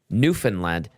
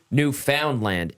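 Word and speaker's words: Newfoundland: pronouncing newfinland it is newfinland not New Foundland emphasis is on the first syllable not middle syllable middle syllable fund like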